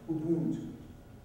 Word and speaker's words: Ubuntu: and philosophical concept of Ubuntu. And it's a tonal language, that's how you say it.